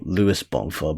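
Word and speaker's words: Luiz Bonfá: Well, technically Luís Bonfa or Luís Bonfa, but I say like Luís Bonfa because it's like the Portuguese pronunciation and he's Brazilian. And and it's funny because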